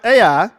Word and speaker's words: Ai: the west and uh h-a-i-i but actually pronounce AI on East and there he